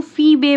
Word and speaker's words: Phoebe: बच्चों इसको फीबे प्रोनाउंस करेंगे हम, है ना, PHOEB, फीबे कैरी.